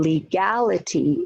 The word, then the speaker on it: legality: So legal, the A is weak, but in legality, it's strong.